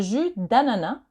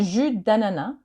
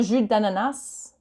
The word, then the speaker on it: jus d'ananas: So be careful, it's not le jus d'ananas. I've heard that before. It's not that. It's le jus d'ananas. So you don't pronounce the S in jus and you don't pronounce the S in ananas.